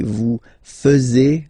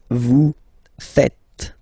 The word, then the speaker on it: vous faites: And it's quite funny because many French people tend to make the mistake and tend to say vous faisiez, okay? But then no. It's vous faites. Vous faites. Okay? So remember, final S here is not pronounced, and then this is not pronounced either.